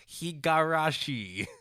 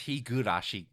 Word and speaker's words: Higurashi: goes to Jason for his constant mispronunciation of hiari it's Higurashi will get it correct